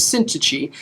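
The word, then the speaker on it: Syntyche: eodius uh let me i need to look up how to say it's syntachy i looked it up i spent like an hour today figuring out it's called sin her name is syntici i beseech yodius and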